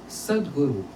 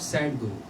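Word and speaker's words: sadguru: When I say guru means sguru, not sad guru.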